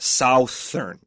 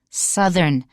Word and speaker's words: southern: that breathy sound but when we have southern the oh you has like a short u sound and then our th we have to vibrate in our throat not southern exactly so many people make that mistake so pay attention again